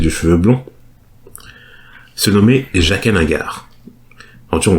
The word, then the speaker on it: Jaqen H'ghar: cheveux blonds, se nommait Jaqen H'ghar. En tout cas, on dit H'ghar parce que je crois que dans la série il dit Jaqen H'ghar.